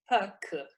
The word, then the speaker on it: Pâques: Pâques.